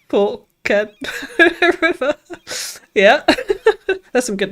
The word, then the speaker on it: Forked River: Then I remembered there's a town near me called Forked River, pronounced Fork Ken River.